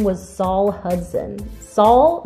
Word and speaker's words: Saul: name was saul hudson saul that right isn't how you pronounce that like better call saul like saul hudson who knew it